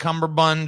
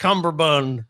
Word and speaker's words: Cumberbatch: have you guys seen this sherlock with benedict cumberbund or whatever the cumberbund yeah he don't uh benedict cumberbatch i don't know why mispronunciations are so funny